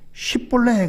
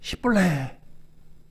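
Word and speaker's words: 쉽볼렛: 경상도 사람에게 쌀 그러면 살 그러잖아요. 쌀을 못해요. 여기 이 에브라임 지파도 십볼레 그러면 십볼레 발음을 제대로 못해요.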